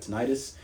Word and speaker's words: tinnitus: I got tinnitus or tinnitus, however you want to pronounce it.